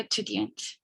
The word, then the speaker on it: étudiant: No se pronuncia la S. Ah, ya. Estudiante. Ni la T tampoco.